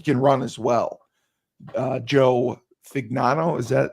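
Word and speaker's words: Fagnano: Joe Fignano, is that how you say his name? Fignano.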